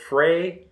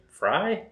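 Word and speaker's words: Frey: i think established 1854 fray fry i mean it's spelled like glenn frye from the eagles i was just a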